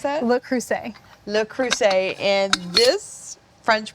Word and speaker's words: Le Creuset: How do you pronounce that? Le Creuset.